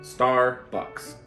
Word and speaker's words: Starbucks: Starbucks. So 첫 번째 우리 star 하자. Star. R 소리 필요해요.